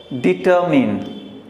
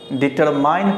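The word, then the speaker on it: determine: डिटरमिन। डिटरमिन। डिटरमिन। डिटरमिन। डिटरमिन, ये डिटरमिन, तो डिटरमिन इसका करेक्ट उच्चारण होता है, लेकिन जब आप इसे डिटरमाइन पढ़ते हैं तो गलत हो जाता है।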